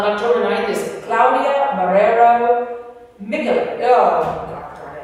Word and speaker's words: Michalik: Your next speaker on October 9th is Claudia Marrero Michalik. Oh, God, darn, I said it. How do I say her name? Michalik. Yeah, they helped me with that.